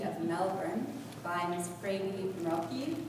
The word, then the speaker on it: Mrocki: Freydi Mrocki, or as she's told me to pronounce it in Yiddish, Mrocki.